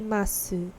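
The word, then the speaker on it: ます: a minha pronúncia mas quando tem esse su no final ele vem bem Sutil os ni rondins os japoneses eles falam eles pronunciam esse su de uma forma bem Sutil então mim mass Mass hanash quando você tá falando mais rapidamente mais naturalmente esse tende a assumir tende a ser imperceptível na linguagem falada Tá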